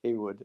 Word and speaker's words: Callwood: Sorry, he corrected me on that. It's actually pronounced Kwood, and I'm sitting here doing it wrong.